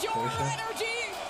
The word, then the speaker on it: Porsche: Porsche. More than ever. I know most people say Porsche, but like how it's actually pronounced.